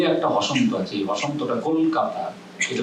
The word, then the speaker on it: কলকাতা: 3 মাত্রা করে উচ্চারণ করতে পারেন, তখন দ্রুত উচ্চারণ করতে হবে। দ্রুত কেননা করলে একটা হসন্ত আছে, এই হসন্তটা কলকাতা, এটা ল আর ক একসঙ্গে যুক্ত হয়ে যেতে হবে, এবং দ্রুত উচ্চারণ করলে যুক্ত হয়ে যায়।